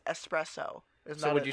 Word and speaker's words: espresso: would get so passive-aggressive if somebody would say Express oh look it's not how you spell it or say you say eggs say s s espresso so would you say they express owed their